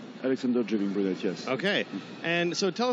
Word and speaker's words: Alexandre Jouvin-Brunet: Did I pronounce that right? Alexander Jouvin-Brunet, yes.